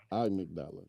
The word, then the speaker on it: amygdala: Your amygdala, amygdala.